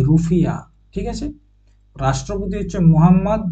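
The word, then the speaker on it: rufiyaa: উচ্চারণ হচ্ছে মালদ্বীপ মালদ্বীপের কারেন্সি হচ্ছে রুফিয়া রুপিয়া নয় রুফিয়া ঠিক আছে রাষ্ট্রপতি হচ্ছে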